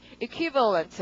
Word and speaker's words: equivalent: 자, 강세가 equi 여기에 있습니다. 그래서 발음이 equivalent 이렇게 되는데 이거 하나 외워보죠.